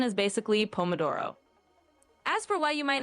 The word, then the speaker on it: pomodoro: And the pronunciation is basically pomodoro.